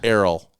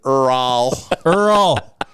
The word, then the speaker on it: Errol: Errol. Errol. E R R O L. Okay. You just said it. Star Prairie. You pronounced it earl.